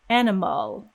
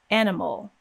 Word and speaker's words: animal: added a vowel sound it would sound a little bit strange like animal animal so we want to get rid of that vowel entirely and go straight from m into l animal in most syllables in